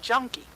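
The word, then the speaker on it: Janke: And they used a derogatory term for the Dutch, and they called it junkie. And the J in Dutch is pronounced with the Y in English.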